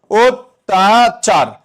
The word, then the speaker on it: অত্যাচার: লক্ষ কর এই অ আছে পরবর্তী বর্ণে কি ফলা আছে? জফলা আছে তাহলে অ এর পরবর্তী বর্ণে যদি জফলা থাকে উচ্চারণে কি হয়ে যাবে ও হয়ে যাবে তাহলে লিখব ওতাচার যেভাবে বলবা সেভাবে আরচার